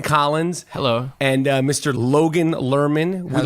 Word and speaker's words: Lerman: interview with somebody yeah did I pronounce it learn it or let Lehrman it's learning guys it's Lerman yeah it's really anything you